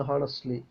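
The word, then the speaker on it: honestly: ഹോണസ്റ്റ്ലി speaking എല്ലാവരും പറയുന്നതാണ് ഹോണസ്റ്റ്ലി പക്ഷേ ഹോ അല്ല ഓ ഹോണസ്റ്റ്ലി speaking in honourable prime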